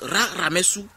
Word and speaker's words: Ramessou: Donc Ramessou II, au fait, c'est vraiment la véritable prononciation de Ramsès II.